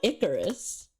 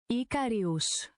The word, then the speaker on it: Icarius: It's not Icarus. Icarus is a different person altogether.